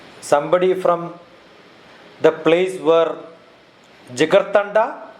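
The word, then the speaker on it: Jigarthanda: from the place where jigar tanda is it the way it used to be pronounced jagar tanda yeah you see the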